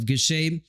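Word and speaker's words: Gausha: Yes, the eye-catching punches were landed by Gushet, and that's why I thought that Gushet took that fight.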